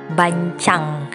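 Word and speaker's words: bánh tráng: Oke, kalau misalkan semuanya udah siap, nah tadi aku sempat googling gimana cara pengucapan kulit lumpia basah Vietnam ini, ternyata bacanya bancang.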